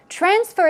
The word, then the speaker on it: transfer: Transfer, especially if it's used in the verb form, remember that the stress goes on the second syllable.